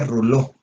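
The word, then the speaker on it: rouleaux: Se escribe Rolleaux, se pronuncia rouleau, ¿sí? Está en francés.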